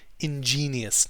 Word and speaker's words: ingenious: word here is pronounced ingenious not engage in case some of our european cousins might have a similar word it's ingenious like genie in the bottle rather and somewhat rather